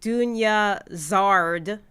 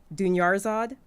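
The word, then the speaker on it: Dunyarzad: like okay it's like i would say dunya zard dunya zard when it's doing yarzod dunyarzod okay so like this was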